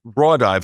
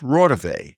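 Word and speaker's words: Raudive: I'm Googling the name it's not Rive he mispronounced it it's RAV Constantin RAV was an expert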